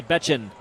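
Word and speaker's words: Bečan: yesterday, he said, "Oh, pronounced like Bitchin, only Bechin."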